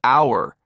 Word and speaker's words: hour: the letter for example we say an hour because hour starts with a silent h and sounds like hour next we have the